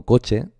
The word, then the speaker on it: coche: Por ejemplo, cuando yo digo coche, estoy pronunciando en 2 golpes de voz, ¿verdad? En 2 sílabas. Coche. Digo coche o coche. Digo coche, ¿verdad? Pues coche sería la palabra, el acento recaería sobre la sílaba co, ¿de acuerdo?